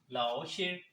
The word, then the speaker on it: 老师: Hello friends today's word is laoshi Lao ship Lao ship it's finium our pronunciation is written as Lao she is mean